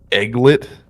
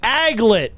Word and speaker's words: aglet: Is it the egglet or something like that? Like the Spell it. like EG fucking LET? Is the fucking go in there or is it just? You know what? I'm going to give it to you Correct! with a buzzer because you said it wrong, just like I would have. It's the aglet. A-G-L-E-T.